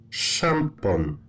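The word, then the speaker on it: szampon: And you should pronounce it as sh. Sh. Sh. Sh. Like shampon.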